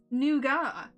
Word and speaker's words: nougat: couldn't quite make it wait it's not pronounced nougat apparently not apparently it's noua apparently it's noua but